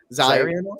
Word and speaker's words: Zerion: How we want to pronounce that? Zerion? Zyrion? Zyrion. Zyrion. For some reason, people want to say it in the weirdest way possible.